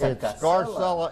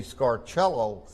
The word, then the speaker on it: Scarcella: It's Scarcella in America, but if you go to Rome, they'll fuss at you because the CE is pronounced ch, so it would be Scarcello.